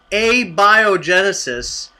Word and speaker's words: abiogenesis: no anybody else yeah mark you're all mispronouncing it it's a biogenesis and it means it's